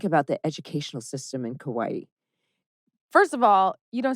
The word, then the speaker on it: Kauai: And it's improper to say Kauai, but it's Kauai is the correct pronunciation.